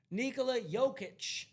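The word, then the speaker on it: Nikola Jokić: Nikola Jokic. Did I pronounce that right?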